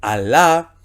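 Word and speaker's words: ἀλλά: Gemas, eis, peirasmon, alá, ojo con esto, aquí no es doble L, y, como sería en nuestro español. Acá nosotros podríamos transliterar allá, no, es alfa, lambda, lambda, alfa, a, l, l, a, alá.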